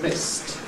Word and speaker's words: missed: The first of these is just a T consonant. So if we take the verb to miss, the past tense is missed.